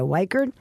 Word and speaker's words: Wikred: And with her is Andrea Wikred. Now I'm pronouncing her name correctly. Andrea Wikred, who is an accountant.